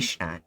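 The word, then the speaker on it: Weißstadt: shit about German, but I know that the W's sound like the, sound like these. Yeah, And Weisstadt, yeah.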